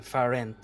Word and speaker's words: Farent: what is your name farent as inference okay uh first as